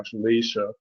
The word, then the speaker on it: Ashlesha: Ardra, Purnavasu, Pusha, Ashlesha. There's a long A in there. Ashlesha, Maga.